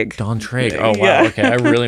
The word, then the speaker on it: d'Antraigues: The count Dantra. Dantree.